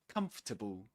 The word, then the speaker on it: comfortable: Comfortable. Comfortable. Yeah, just three syllables.